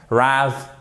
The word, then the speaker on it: rather: Rather. Et après, deuxième syllabe, seconde syllabe, rather, ok?